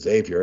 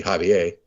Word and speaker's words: Xavier: Cincinnati's Saint, mispronounced Xavier. Everybody calls it Xavier. It should be Javier.